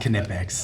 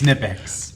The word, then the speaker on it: Knipex: about knipex then huh no it's it's not knipex it's nipex anyway back to the show ladies and gentlemen